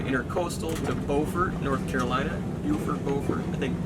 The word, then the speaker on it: Beaufort: to beaufort north carolina beaufort i think beaufort i think is the correct pronunciation there for north carolina and from there we